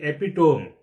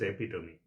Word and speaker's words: epitome: I used to pronounce it as the epidome. But actually it is epitome which made it clear concept about the pronunciations of some words in some YouTube videos.